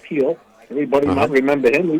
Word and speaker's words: Gil: He was going to start this game, but they're going with Lewis Gill, G-I-L, but pronounced Gill.